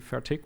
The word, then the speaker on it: Fertig: Um I'm German so my last name incidentally is a very frequent German word. It's an adjective and um I'm mispronouncing it for years now because in proper German it's fat. But due to my dialect, I put a hard K at the end. So I always say fertic.